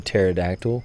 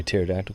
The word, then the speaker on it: pterodactyl: Okay, so why can you not hear a pterodactyl go to the bathroom? And my son will look at me like, why, Dad? Like, because the P is silent.